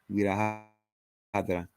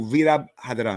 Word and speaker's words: Virabhadra: Vira Hadra. I'm gonna go Vira Hadra, Vira Hadra, Vira Hadra, Vira Hadra, Vira Hadra. I think with those type of last names, you gotta pronounce them all.